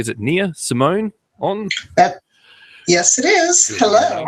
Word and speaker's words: Nia Simone: I'm going to try and pronounce this correctly. Is it Nia Simone on?